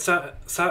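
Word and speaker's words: ざ: You pronounce this as za. Write za as normal and then add your Dakuten marks and the position shown on the image above.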